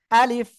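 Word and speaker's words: ا: কিরকম উচ্চারণ আলিফ আলিফ একেবার এই ঠোঁটের সাথে এরকম শক্তভাবে লাগবে না কিন্তু সিম্পল কোন রকম আলিফ এই যে আলিফ আলিফ আলিফ আশা করি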